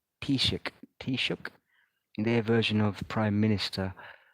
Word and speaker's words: Taoiseach: I mean, you've got this beast as this joke of a Tish, if I'm pronouncing it, they say Taoiseach, their version of Prime Minister.